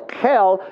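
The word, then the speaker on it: Cheil: Now, it's not H-E-L-L, okay? It is actually spelled with a C, C-H-E-I-L. The Kel is the common area.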